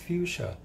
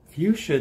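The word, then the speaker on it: Fuxa: I believe it's pronounced Fuchsia. It's spelled F-U-X-A, and it's pronounced, I believe, Fuchsia.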